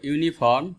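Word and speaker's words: uniform: 11, শি ওর ইউনিফর্ম টু the event. এখানেও একই rule, যে ইউ আছে, ইউটা ওয়াইয়ের মতো উচ্চারণ হচ্ছে, আর ওয়াই যেহেতু একটি কনসনেন্ট, সো এখানে এ বসবে।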